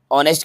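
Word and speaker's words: honest: पहले लगा दीजिए बार्किंग ऑनेस्ट के पहले लगेगा एन क्योंकि वाउल साउंड है एच यहां पर जो है यह साइलेंट है तो ऑनेस्ट वाउल साउंड के पहले एन लगता है आई हैव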